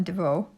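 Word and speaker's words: Devost: beading go see emma devoe i've talked about her many times and that's what her channel name is emma devoe d e v o s t you don't pronounce the s with the t okay so i've got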